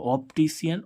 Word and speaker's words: optician: तो इसका उच्चारण देखो कौन सा? सीटी वाला सा हो रहा है। क्या हो रहा है? सीटी वाला सा। तो ऑप्टिशियन, ऑप्टिशियन मीन्स होता है प्रकाश विज्ञान शास्त्री।